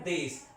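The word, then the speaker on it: です: तो लिखने में तो ये देशु है, लेकिन बोलने की जब बात की जाएगी तो ये बोला जाएगा देश।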